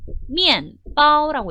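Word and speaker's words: 面包: 이 면포의 중국어 발음은요. 미엔바오라고 읽습니다. 제가 분명히 앞에서 이거 EN으로 읽어야 돼요 라고 말씀을 드렸을 거예요. EN으로 읽어야 돼요 라고 말씀을 드렸는데 습관이 안 되신 분들은 EN이 아니라 꼭 이안으로 읽으세요.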